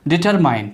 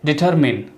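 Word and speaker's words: determine: डिटरमाइन, ठीक है, डिटरमाइन को बोलते हैं डिटरमिन, ठीक है, डिटरमिन, नॉट डिटरमाइन, ठीक है।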